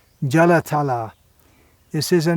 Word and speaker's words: Jalatala: now David as he know the pronunciation that's a long hair at the end jalatala this is the name